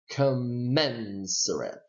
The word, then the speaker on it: commensurate: just know that there the syllable to the right to the right of the primary stress signal is the one that stressed so you would say commend threat commensurate commensurate commensurate okay let us move on